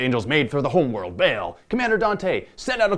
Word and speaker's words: Baal: that would suck yes I pronounce it bail and uh Paul I think a Christian belt Batman I don't think of a basketball I just pronouncing the way I do they're gonna have to